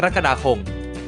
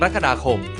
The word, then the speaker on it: กรกฎาคม: ต้อง กัน เลย ครับ คำ แรก คำ ว่า กรกฎาคม อ่าน ได้ 2 แบบ ดัง นี้ ครับ แบบ แรก อ่าน ว่า กรกฎาคม แบบ ที่ 2 อ่าน ว่า กรกฎาคม ต่าง กัน ที่ ระ กับ ลักษณ นะ ครับ คำ ที่ 2 คำ